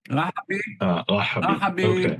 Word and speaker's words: Rahabi: Rahabi, probably a descendant from Yemen, where there is a district or a county named Rahaba. By the way, many people, there are many, the name Rahabi is well known among Yemenites until this very